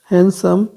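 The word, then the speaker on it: handsome: हैंडसम, हैंडसम में D silent है।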